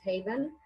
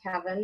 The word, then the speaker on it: Haven: As far as my blog, it's called Anita's Haven, and many people mispronounce and they think it's heaven. It's not haven, because it's sort of my refuge.